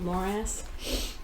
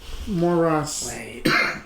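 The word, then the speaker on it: Morrace: contact gavin morris m-o-r-r-a-c-e not more ass more russ you know how to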